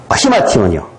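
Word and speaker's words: ἱμάτιον: 여기에 저것이 이 H자가 들어가는 것은 묵음이 되어 있어요, 이거는요. 묵음이 되어 있기 때문에 이거는 이제 우리가 흔히 아이라고 표현하는 그것처럼인데 이 히마티온이라고 묵음이 되어 있어요, 그거는.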